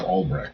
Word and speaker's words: Alrech: Halreck instead of Alrech. Damn it. I got to get his name straight and then have another character use his name wrong. Say it wrong. Like pronounce it with an H.